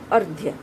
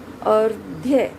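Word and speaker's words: अर्घ्य: इस शब्द का उच्चारण होगा अर्ध्य। अर्ध्य। र का उच्चारण कहाँ हो रहा है? ध से पहले यहाँ उसका उच्चारण हो रहा है। अर्ध्य। र की ध्वनि यहाँ बिल्कुल अ के बाद में आ रही है।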